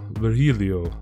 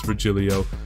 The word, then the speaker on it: Virgilio: Chile oh it's peanuts Virgilio ver Helio oh I got you yeah well Helio no I'm pretty sure it's Virgilio you said as much